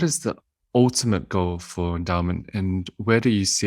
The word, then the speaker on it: Endaoment: mentioned at the beginning endowment is spelled a little differently than you would expect it to be e-n-d-a-o-m-e-n-t we like word play and that's